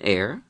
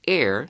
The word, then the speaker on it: heir: H is pronounced in one yeah and not pronounced in the other it's an air heir to the throne and heir to the throne